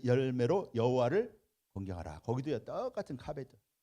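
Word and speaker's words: כָּבֵד: 자, 그런데 여기 공경하라라고 하는 말은요, 자, 공경하라라고 하는 말은 카베드라고 합니다. 카베드. 이 카베드라고 하는 말은요, 이 카베드라고 읽죠.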